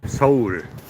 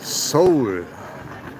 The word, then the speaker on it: Seoul: Seoul. It's not pronounced Seoul. It's pronounced Seoul.